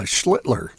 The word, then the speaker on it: Schlittler: Yeah, Schlittler.